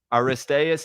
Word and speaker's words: Aristaeus: Uh, this episode is about Aristas.